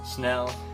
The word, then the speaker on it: Snell: called the Snell Knot pronounced like spell except with an N Snell it is a knot